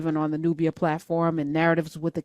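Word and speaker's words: Knarrative: the Nubia platform and narratives with the K like knowledge the K is silent so there's a k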